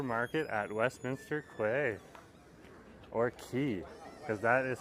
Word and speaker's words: Quay: at Westminster Quay or key cuz that is how you actually pronounce it when you see the word qu it's actually old British that should be pronounced as key so we're at the